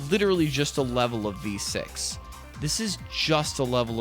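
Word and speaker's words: VVVVVV: So I guess what someone told me that Terry Kavanaaugh pronounces it just as V, right? I don't know. It's I I've just always known it as just saying the letter V six times or or calling it V6, right?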